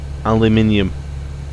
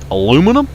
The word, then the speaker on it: aluminium: lot of words aluminium is a prime example aluminium that's how you say the word that's how it's spelled that's how it's supposed to be pronounced